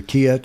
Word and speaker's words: Quillette: Quillette or Quillette? Well, either Quillette or Quillette. Yeah.